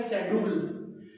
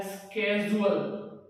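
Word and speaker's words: schedule: रहे हैं शेड्यूल, और कुछ लोग बोल रहे हैं इसको शेड्यूल, लेकिन इसका राइट प्रोनाउंसिएशन है वो है स्केजुअल। स्केजुअल, स्केजुअल, right pronunciation है स्केजुअल। तो आप इसको ध्यान रखें, इसको शेड्यूल ना पढ़े, शेड्यूल ना पढ़े, स्केजुअल पढ़े।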